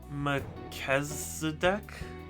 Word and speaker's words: Melchizedek: CH equals K? So then that would be pronounced Melchizedek? But I mean, they also have a K in there. So, like, it's just a K sound twice?